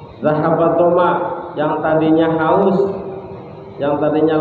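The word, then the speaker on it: ذهب الظمأ: Allahumma laka sumtu wa bika amantu wa ala rizqika afdaltu zahatul doma wa taliyatil huruf wa sabatil ajra insyaallah wa sabatil ajra insyaallah. Ini bacanya zahabat doma, yang tadinya haus, yang tadinya lapar hilang.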